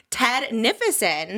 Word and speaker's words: Ted Nivison: The one and only Ted Nivison.